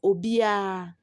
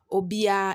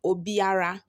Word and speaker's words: obiara: we said we say obia obia instead of saying obiara you say obia okay so that's everyone